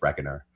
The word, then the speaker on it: reckoner: Maybe it was reconner, but it's spelled reckoner. To me, that's reckoner. Yeah, it sounds like reckoner. There's a K in there. I think it's reckoner.